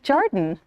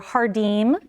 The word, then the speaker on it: Jardin: She's my friend, but I like to pronounce her name like Jardin or Hardim. Yes. Because that's the Portuguese. Or Jardin. Or Jardin. Like French.